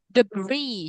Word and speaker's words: debris: Debris. Coba. Debris. The Bridge. Free. Ya, Debris. debris. Debris. Not debris. Ya, jadi kayak aneh ya, tapi begitulah.